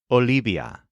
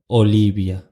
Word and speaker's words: Olivia: last letter to learn the letter V in Spanish is pronounced exactly like the letter B so the name Olivia is pronounced Olivia Olivia to put all of